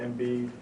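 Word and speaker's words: Embiid: basketball wise that uh mbid that's how you pronounce it does better than any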